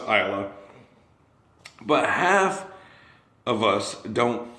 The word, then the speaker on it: Islay: It's pronounced Islay.